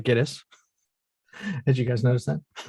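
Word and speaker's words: Gittes: And I noticed in the movie they pronounced that 5 different ways. So I'm going to say Giddis.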